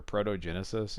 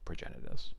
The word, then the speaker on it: Progenitus: don't know for sure protogenesis is how a a fellow at the game store that I worked at in col pronounced the name progenitus and that was only